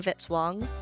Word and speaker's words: Vitzwong: Music by Kevin Vitzwong rhymes with hit song.